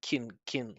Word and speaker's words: can: So if you're not like emphasizing can, you shouldn't pronounce the vowel. It should just be a reduction. It should just be kin like that.